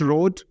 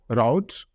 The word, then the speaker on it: route: Not road, route.